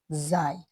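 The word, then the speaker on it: زاي: অনেকে এই অক্ষরটাকে যা বলে, আমাদের দেশে যা বলে, আমরা মাদ্রাসাতেও যাই শিখি, তবে এটার সঠিক উচ্চারণ যাই, আরবিতে এটাকে যাই বলে।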